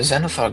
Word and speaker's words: Xanathar: it's Except fucking Xanathar is spelled awful.